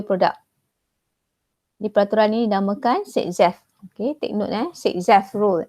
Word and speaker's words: Saytzeff: Di peraturan ini dinamakan Sitzeff. Okay, take note Sitzeff rule. Tengok ejaan dia.